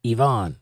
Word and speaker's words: Leon: Leon says, Chevelle, pronounced like the car, and Yvonne.